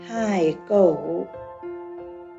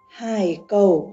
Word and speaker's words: hải cầu: Hải cầu. Biển. Biển. Okay. Should lower your voice and then go up slowly. Hải cầu sống ở biển.